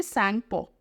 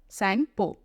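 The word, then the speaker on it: Tsangpo: हम ब्रह्मपुत्र नहीं बोलेंगे अभी इसको बोलेंगे संग पो ठीक है इसमें टी साइलेंट संग पो बोलते हैं इसको संग पो ठीक है तो कौन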